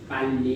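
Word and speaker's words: 빨리: र झुन्डिएर आएको अक्षरको उच्चारण आधा हुन्छ भने थाहा पाउनुभयो। भनेपछि यसको उच्चारण त आधा ल भनेको होइन, यसको माथि पुरा ल के भनेको त? पाल्ली भयो। यो आधा ल पाल, यता लि छ, पाल्ली।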